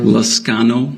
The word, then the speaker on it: Liscano: How do you say it, Liscano? Liscano. Liscano.